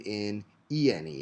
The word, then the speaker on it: yne: it's going to end in ene. And if we had a triple bond, it would end in yne. And those are pronounced ene and ine.